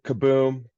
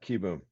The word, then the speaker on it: Kieboom: Yeah, Kieboom, Kaboom, Kieboom, but yeah, Kieboom.